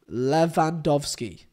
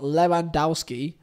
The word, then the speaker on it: Lewandowski: or something no levandovsky the W is a v okay learn that come